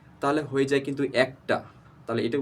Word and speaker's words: এক: সত্য আমরা হয়তো অনেকেই আছি যে এই এক উচ্চারণ করতে আমরা অনেকে এক বলে ফেলি এক ছোট থেকে কিন্তু আমরা এক শিখেছি এক দুই তিন এক বলেছি কিন্তু কখনো এক উচ্চারণটা হবে না এটির প্রকৃতি উচ্চারণ হচ্ছে এক তাহলে এক এর পরে যদি আমরা একটা ট